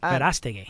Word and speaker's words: Verastegui: This is Eduardo Verastegui. Is that how you pronounce it? Is that good? Eduardo Verastegui. Verastegui.